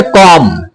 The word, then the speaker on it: comb: कॉम। क्या पढ़ेंगे? कॉम पढ़ेंगे। बी साइलेंट रहता है इसमें, कॉम्ब मीन्स कंगा होता है।